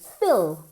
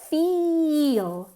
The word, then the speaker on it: feel: Because a lot of people say fill. Fill es llenar. Y aquí estamos diciendo feel, como si la I en realidad tuviese 2 sílabas, okay? Feel es mucho más nasal que fill.